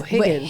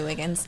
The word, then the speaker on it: Higgins: It's Higgins. Higgins. I was going to say Wiggins. Higgins.